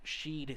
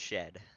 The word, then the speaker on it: Sheed: As a good run, a good showing here for that Cody Sheed Speed. Now, I've been saying Sheed or potentially Shed. How does JP say his last name? It is pronounced Shed. Shed.